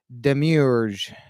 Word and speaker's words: demiurge: of the day for Friday April 3rd is Demiurge Demiurge Demiurge good morning Liz Demiurge sir de